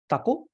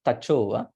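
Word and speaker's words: taco: Is it taku? Taku. This is tacho. C means ch. It's like my name. People should not say. C is ch, not like CH, but it is written like CH in English, but it doesn't have an H.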